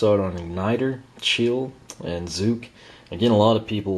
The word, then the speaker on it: Zook: on igniter chill and zuk again a lot of people last time around wondered how to pronounce them it's actually just like bazooka you know mineus the beginning and the end as you can see